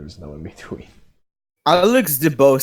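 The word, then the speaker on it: Deebo: DeBow would be in jail right now if it weren't. I actually think it's pronounced Debo. All right, Debo would be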